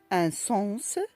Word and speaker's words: sens: Dans des cas particuliers, nous avons le S qui se prononce à la fin, comme un fils, un sens, un cactus, un consensus.